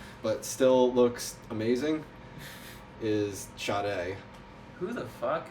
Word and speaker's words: Sade: still looks amazing, is Sade. Who the fuck? Oh, I've been reading it as Sadie.